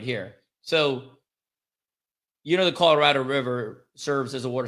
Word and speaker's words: Colorado: First of all, that's not Colorado. That's what I said. It's Colorado. Colorado. I did not say. I did not say Colorado. Colorado. I didn't say Colorado. Put the wrong emphasis on the wrong syllable.